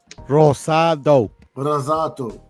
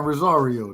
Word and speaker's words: Rosado: Rosado. Okay. Pretty good. I'm trying my best. I always call the man Rosario, to be honest.